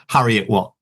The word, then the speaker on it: Heriot-Watt: history degree from the Heriot-Watt University in Edinburgh. Hope I pronounced that correctly. Almost. How was it pronounced? Heriot-Watt. Harry.